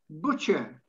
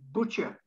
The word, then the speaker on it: butcher: Butcher. It's a silent T, almost non-existent when you pronounce it. Butcher.